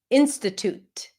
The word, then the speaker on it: institute: T toot. It's not to, it's toot. And you can pop the T at the end. Institute.